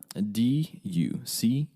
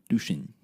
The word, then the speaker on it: Duchesne: How do you spell it? Duchesne. Duchesne.